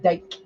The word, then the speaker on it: Dick: Dick is pronounced Dyke.